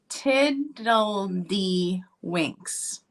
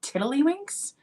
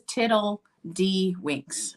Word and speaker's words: Tiddledy Winks: And then there is Tiddledy Winks. I've always said Tiddlywinks, so I've said it wrong. This is Tiddledy Winks.